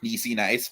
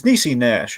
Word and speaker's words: Niecy Nash: Recent Emmy winner, Niecy Nice, by the way. Well, it's Niecy Nash, actually.